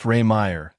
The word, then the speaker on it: Rehmeier: My last name, Rehmeier, pronounced Rehmeier, gets pretty butchered most of the time.